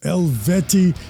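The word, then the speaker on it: Eluveitie: And according to the band, their name is pronounced Elveti.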